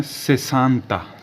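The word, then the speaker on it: sessanta: तक फिर आएगा 60 60 को बोलते हैं से सांता शांता 60 60 को क्या बोला जाता है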